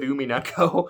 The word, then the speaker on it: Umineko: Oh, one tiny last thing is Clay is now almost done with Umineko. I think I said I think I almost made it sound like it was UME with the way I pronounced it.